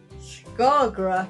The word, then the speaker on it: Skagra: Skagra.